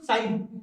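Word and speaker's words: sign: साइलेंट जी, साइलेंट जी देखो, साइलेंट जी, साइलेंट जी, साइलेंट जी, साइलेंट जी देखो। तो क्या बोलते हैं हम, क्या बोलते हैं इसको साइन।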